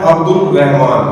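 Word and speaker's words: عبد الرحمن: पढ़ते हैं अब्दुल रहमान जबकि लाम की आवाज ही नहीं साउंड ही नहीं आना है लाम का लाम तो साइलेंट है इसके अंदर तो लाम का साउंड यहां पर नहीं आएगा यहां पर पढ़ा जाएगा अब्दुल रहमान और ये मुश दद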